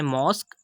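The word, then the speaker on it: mosque: यहाँ पर हम देख सकते हैं कि क्यू के बाद यू ई आया तो हमने यू ई को साइलेंट कर दिया। सेकंड एग्जांपल है मॉस्क, जो ऑल्सो ये शो कर रही है कि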